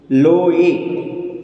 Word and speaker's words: लोए: हा का उच्चारण नहीं आना चाहिए, लोहे नहीं होना चाहिए, लोए, एड़ी का।